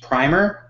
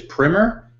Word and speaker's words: Primer: if you've seen it you probably know it as primer although i hear the official pronunciation is primmer and there's probably some UK